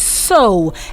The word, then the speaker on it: sow: number 15 that is so s-o-w-s-o-w-u means to plant on the ground that is so sow and i can give